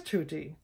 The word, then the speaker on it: tutti: grated my nerves because the word is tutti not to tea all right Texas